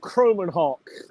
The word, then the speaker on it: Kromenhoek: How do you pronounce his last name, first of all? Luke Kromenhoek.